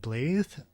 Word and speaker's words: Blaidd: on the left and blae on the right it's spelled like Blade with two D's but when she says it it sounds more like a th sound so I'm going to say blae um so she's kind